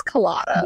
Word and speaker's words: Kalaida: My name's Kalaida. Yeah. You will say all three syllables.